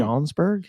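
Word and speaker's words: Schaumburg: was the uh narbc and what is it shaunsburg is that's how you say it yeah yeah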